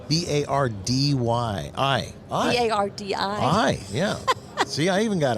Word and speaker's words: Bardi: to you and says, Bardi, B-A-R-D-Y-I. B-A-R-D-I. Yeah. See, I even got it wrong. But when people hear me say, what did he say her name was? Bardi. Like Okay? Bacardi.